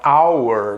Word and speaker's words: hour: Na palavra hour, né? Hora, que se escreve H-O-U-R, a gente não pronuncia o H.